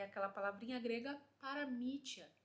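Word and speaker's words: παραμυθία: Por último, a palavra traduzida no grego como consolação, nós pronunciamos ela como paramítia. Acho que tá certo, paramítia, né, a pronúncia.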